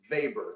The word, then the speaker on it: Weber: that I did on Max vber it's spelled Weber web R he's one of the